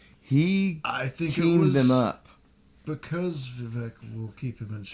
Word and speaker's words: Vivek: Vivek rhymes with I think cake.